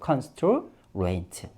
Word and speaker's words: constraint: 우리 외국인들 발음할 때 T 거의 발음 안 하죠. 이 이유가 올라갔다가 내려올 때 특히 뒷부분에서 뭐가 많이 사라진다? T나 D는 소리가 많이 사라집니다. 왜? 높이 올라갔다 내려오고 또 느려지니까 사실은 상대적으로 느려지다 보니까 소리가 사라지는 경향이 많아요. 그래서 constraint 이렇게 발음해 주는 사람은 거의 없죠. 실제로 들어보면 constraint 하고 아주 약하게 발음합니다.